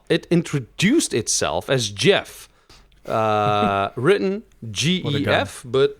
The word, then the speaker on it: Gef: understood Edith lalala it introduced a self as Jeff written gif but pronounced as GE FF and claimed to be